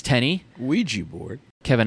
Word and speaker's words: Ouija: guy brings over a a Ouija board or weah board as you know the guys insistent on calling it the proper pronunciation they use it to